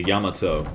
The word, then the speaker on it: Yamato: Looks like the Yamato or Yamato. Yamato is definitely the wrong pronunciation because, like, emphasis should be on the first syllable of the Ya.